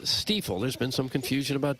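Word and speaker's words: Stifel: because they've been around forever and it is pronounced steifel there's been some confusion about that it's definitely steel founded in downtown St Louis in 1890 still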